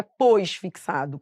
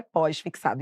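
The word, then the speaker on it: pós-fixado: tudo junto só que a pronúncia correta é pós fixado então agora qual vai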